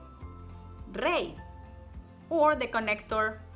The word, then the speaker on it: rey: When it appears alone by itself, or when it's at the end of the word, it's pronounced like a pure I vowel. I, like in the words hoy, ley, rey, or the connector I, and Paula y Pedro.